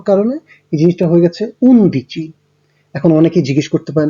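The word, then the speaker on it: undici: ওকে, আপনারা সবাই দেখতে পাচ্ছেন যে 11-র ক্ষেত্রে ইতালিয়ান উচ্চারণটা হচ্ছে উনদিচি। এখন পাশে আমি ব্র্যাকেটের মধ্যে মেনশন করে দিয়েছি, এখানে দেখুন উনো ছিল, উনোর ওটা বাদ হয়ে গেছে, এবং দিয়েচির ক্ষেত্রে মাঝের ইটা বাদ হয়ে গেছে।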